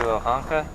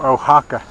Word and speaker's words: Oaxaca: Did I just hear you, Oaxaca? No, Oaxaca.